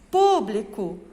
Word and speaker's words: público: Público. Público. Qual é a sílaba forte? É o pu, que foi o que mais saiu da boca.